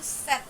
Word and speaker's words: sept: Terus 7 itu set dibacanya sama kayak bulan September cuman ang from set dibacanya set.